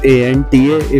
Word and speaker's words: Anta: इट्स ANTA if in case my pronunciation is bad, but it's Anta for now।